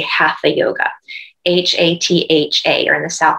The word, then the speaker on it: hatha: say half a yoga h-a-t-h-a or in the south it's hatha yoga okay in sanskrit the t and the h don't make the sound that's only in english and so the proper